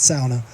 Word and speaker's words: sauna: sitting in the sauna that's how you pronounce it according to my finnish girlfriend uh it's not sauna it's sauna uh don't say it